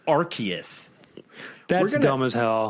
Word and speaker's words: Arceus: like i always said arceus yeah danielle looked up some videos it's arceus like officially on a pokemon pokedex site it's arceus that's dumb as hell